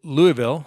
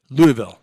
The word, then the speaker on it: Louisville: And so a church down there in Louisville, I think I pronounced that right, Louisville. See, we have a Louisville here in Colorado, but I think it's Louisville, like Louisville Slugger.